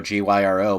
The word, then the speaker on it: Gyro: Yes, it says Gyro, G-Y-R-O, but it is pronounced Gyro.